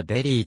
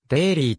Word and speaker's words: Daley: に出場したファーストネームはしばしばだレイヤデリーと表記されるが誰ではなくデイリーと発音されるアムステルダムに生まれ父親